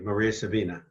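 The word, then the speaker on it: María Sabina: you talk about in your book is uh Maria Sabina and I think I'm pronouncing that correctly absolutely Maria Sabina and I had a friend of her before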